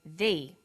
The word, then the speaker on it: the: difference in pronunciation though when the comes before a vowel sound we say thee the apples so they before vowel sounds and the before consonant sounds let's look at the